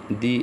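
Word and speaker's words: the: লেটারটি যদি ভাওয়েল হয় তাহলে টি এইচই এর উচ্চারণ হবে দি এগ দি umbrella দি এন্ড আবার শব্দের প্রথম লেটার বর্ণটি যদি কনসোনেন্ট হয় তাহলে উচ্চারণ হবে দা।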